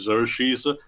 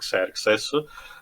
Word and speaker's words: Xerxes: So, the English pronunciation is Xerxes, but I thought it sounded terrible, so we'll use the actual proper one, Xerxes, which was an actual